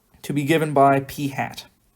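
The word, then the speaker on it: p̂: that's going to be P hats where if you haven't seen this notation before that's how this is pronounced P hat and the way we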